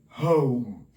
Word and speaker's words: home: The next one is home. Do not be confused with the last E. This last E here is a magical E. It doesn't give us any sound. Therefore, the last sound that